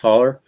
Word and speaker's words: holler: valleys between them so holler is a word you don't it's really hollow but but it's pronounced holler and uh you don't